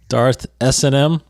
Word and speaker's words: Darth S&M: S-N-M, like you're saying, like he actually sent me a message and told me how to say it. So Darth S&M.